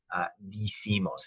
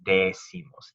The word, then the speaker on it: decimos: I, e to I, digo, dices, dice, dicen, but not decimos. It's decimos, decimos.